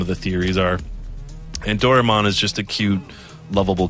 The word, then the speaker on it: Doraemon: So yeah, they're calling it Doraemon, which is cool. That's closer to the Japanese pronunciation.